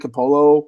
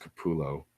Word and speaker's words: Capullo: but someone like Greg Capullo or Todd McFarlane they can live off of Commission's because they they can charge upwards into the hundreds I think is actually pronounced Kapoor Lowe thank ya and that